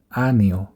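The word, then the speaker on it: año: এনিয়েতে আনিও, আনিও। এই নিয়ে যে অক্ষরটি রয়েছে এটির উচ্চারণ এন এবং ই এর সংমিশ্রণে হবে, নি।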